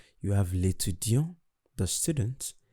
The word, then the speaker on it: l'étudiant: For the masculine, I didn't pronounce the T. While for the feminine, I pronounce the T.